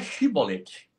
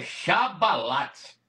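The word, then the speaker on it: שיבולת: Os pastor também fala chibolete, mas não é chibolete. Tem uma página no Google Tradutor que eu traduzi, a palavra é essa aqui, ó. No hebraico se escreve dessa forma aqui, ó. Chá. Tá vendo aqui, ó? O hebraico aqui, ó. Esse aqui é chabalate, não é chibolete não.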